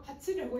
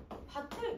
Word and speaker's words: 밭을: 밭에 가서 밭에 가서 밭고 하는데 밭을 가면 받을라고 해 이게 나도 잘못 바음 하고는 있는데 이게 아니라는 거지 왜이가 아니잖아요 이가 와야만 구경 마가 일어날 수 있으니까 얘는 어떻게 발음해야 돼 바틀 그렇지 그러면 이것도 마찬가지 소 7이라고 대분 많이